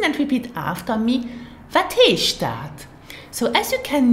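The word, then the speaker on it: heescht: Wat heisht dat? Now, listen and repeat after me. Wat heisht dat?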